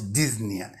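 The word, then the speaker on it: dyspnea: Osteomiitis prefix and root disna. DNA means difficulty in breathing. DNA P is silent. We pronounce disa means difficult in breathing or root and suffix cyitis inflammation of the urinary bladder.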